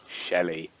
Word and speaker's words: Chelli: Rogue archaeologist Shelley Aphra. Now, I didn't know her first name before. Shelley. It's spelt Chelli.